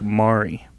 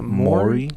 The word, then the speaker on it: Maury: It could be like Mari. Mari. That's how you say it. I think it's isn't it Maury? Maury. Maury. It's Maury. Maury.